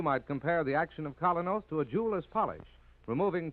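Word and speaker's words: Kolynos: You can get Colinos at any drugstore tonight. That's spelled K O L Y N O S.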